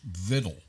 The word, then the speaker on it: victual: not spelled that way it's spelled VI c t u a l but it's pronounced viddle okay what is it